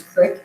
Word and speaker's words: creek: the Northeast like me, you may pronounce it as crick, even though it's not spelled with an I for some reason.